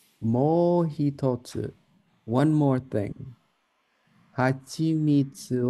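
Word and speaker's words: 蜂蜜: Hachi mitsu. Oh, yes. Perfect. Let's go read the line from the book. Mo hitotsu. One more thing. Hachimitsu o kakete tabete kara bacon mo non some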